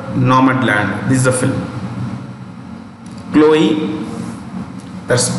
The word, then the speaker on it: Chloe: Chloe, that's how you pronounce it. Chloe Zhao for Nomadland.